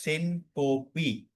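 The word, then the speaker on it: syncope: The actual word used for this sudden loss of consciousness is sinko. The as you can see on the screen the right pronunciation is sinopi.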